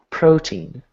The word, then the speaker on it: protein: So first syllable is going to be loud, second syllable is soft.